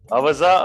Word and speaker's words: Aaza: t g recently launched aaza that is how it is pronounced a Za aaza a premium you please